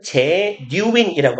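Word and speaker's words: genuine: 다른 친구들에 의해서 주어진 인정과 격려가 was genuin 진짜의 발음은 제뉴인이라고 하시면 돼요.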